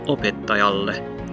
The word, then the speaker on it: opettajalle: in a consonant, and so while ta would normally be the secondary stress since it's on the odd syllable, it's followed by that heavy syllable, so the secondary stress moves over one to the right and it becomes opettajalle, da da da da da da da da da da, opettajalle.